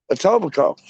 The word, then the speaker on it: Etobicoke: But it's like pronounced Etobicoke.